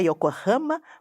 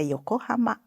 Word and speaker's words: Yokohama: aconteceu quando eu falei Yokohama. Exatamente. É a mesma coisa, não só a nasal, que a professora Mitsuko falou, né, levantou, mas a questão da paroxitonação. Não é Yokohama, mas é Yokohama.